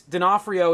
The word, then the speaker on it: D'Onofrio: All I know is D'Onofrio is how I say it for. I have people at where I work that are called. That's their last name, and that's how they pronounce it.